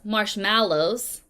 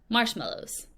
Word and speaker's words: marshmallows: marshmallows also quick tip some students may say and call this marshmallows it has an a but with English pronunciation we call it marshmallows it's kind of more like an e sound marshmallows so the marshmallows looked